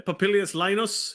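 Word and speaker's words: Popillius Laenas: propelious uh lyannis I don't know how to pronounce that one yeah papillius Linus yes okay all right I shall hear from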